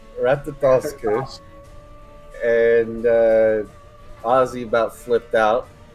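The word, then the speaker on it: Ratatoskr: How do you pronounce it? Ratatosker. Ratatosker.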